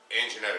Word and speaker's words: Anginetti: that's the flavor anyway these are Uncle Nick's and Jetta cookies did I say it right yeah this